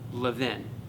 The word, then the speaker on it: Levin: If you think of it like you live in a house, okay? The only difference is that instead of saying live in, you put the emphasis on the second half, so it's Levin, right?